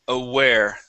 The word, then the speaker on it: aware: to the word aware make sure to pronounce an oo sound here A A aware aware aware there you go mhm